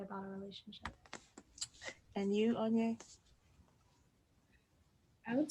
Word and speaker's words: Onye: Onye.